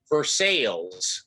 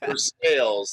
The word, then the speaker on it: Versailles: it was um the the name of the town is spelled the same as uh versailles the the big palace in france but they're saying right they say or something for sales oh even worse yeah for sales that's worse yeah and